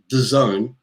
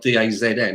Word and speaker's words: DAZN: of the game on the zone apparently i've been told it's not dazn i've been saying it wrong it's designed but i'm